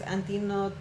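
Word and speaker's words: Antínoo: Personaje, lamentablemente no puedo pronunciar su nombre correctamente, creo que es Antino, Antino. Antino, Antino. acento en la I creo, si no me equivoco.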